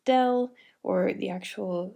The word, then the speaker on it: del: by this symbol here it looks like an upside down triangle but it's pronounced del or the actual name